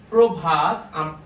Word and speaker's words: প্রভাত: সেটা হচ্ছে কি, দেখুন শব্দের শুরুতে বা আদিতে অযুক্ত রফলা, তার মানে রফলার সাথে একটি অ আছে, সেই অটা যদি শব্দের শুরুতে থাকে তবে সে অ এর উচ্চারণটা অবশ্যই ও কারের মতো হবে।